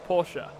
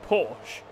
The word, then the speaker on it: Porsche: no porsche is pronounced porsche the americans say porsche because they just disregard the e but obviously the coupe